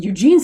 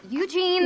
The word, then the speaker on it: Eugene: doing to his name Eugene what go back Eugene yeah it's clearly Eugene Eugene Eugene Eugene Jean you put the wrong emphasis on the wrong syllable yes what is it